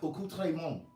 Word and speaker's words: accoutrement: Its etymology is French. The etymology of the word accoutrement is French. It's France. It's pronounced accoutrement, okay?